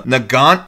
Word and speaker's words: Nagant: This is a real gun, the Nagant M1895 revolver, but there's a T on the end of it that might be silent. Yeah, and the English pronunciation, they've got them just pronouncing it Nagan.